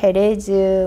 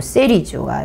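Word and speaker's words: Jerez: 세리, 헤레즈, 뭐 이렇게 발음을 영어로 발음하느냐, 스페인어로 발음하느냐에 따라서 이렇게 바뀌는데, 요 세리주가 생산되는 이 지역, 이렇게 해서 와인 생산 지역을 대충 한번 봤습니다.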